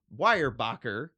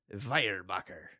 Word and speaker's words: Weyerbacher: I'm gonna give you the anglicized and the possible German pronunciation. Sounds good. We're gonna go Weyerbacher or Weyerbacher. I believe either one. Both of them sound good.